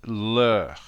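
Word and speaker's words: leurs: And for their, it's leur and leur. Again, not pronouncing the S.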